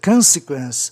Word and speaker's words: consequence: E consequência, consequence. Aí sim justifica a palavra ser proparoxítona, uma vez que ela tem três sílabas, ó.